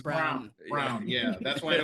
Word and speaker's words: Braun: It's Brown. Spelled like Braun, but it's pronounced Brown.